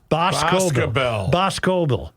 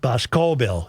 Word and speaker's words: Boscobel: It's Boscobel. Boscobel. Not Boscobel. It's Bosco. Emphasis on the first syllable.